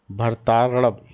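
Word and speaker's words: भरतार्णव: देखिए, भरताड़ब, भरत के आगे आ का डंडा लगा है और अड़ब, भरताड़ब, ठीक है ना, याद रखिएगा।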